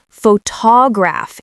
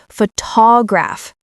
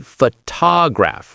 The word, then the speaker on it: photograph: Jake, a lot of learners say photograph instead of photograph. Ooh, that's a big one. The stress is on the wrong syllable. It should be photograph.